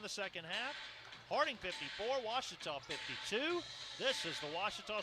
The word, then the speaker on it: Ouachita: to play in the second half harding 54 washita 52 this is the ouachita sports digital network